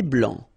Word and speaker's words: blanc: Un thé vert, un thé blanc, final C not pronounced.